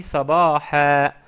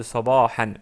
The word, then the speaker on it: صباحا: J'ai dit sabaha, sabaha au lieu de sabahan. Bien sûr, on peut dire sabahan, mais pour prononcer correctement, parce qu'on s'arrête sur le mot, on dit sabaha.